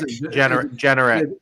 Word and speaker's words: Jeanneret: As Rick, how do you pronounce his last name? I don't want to butcher it. Anyone? Rick? Jeanneret.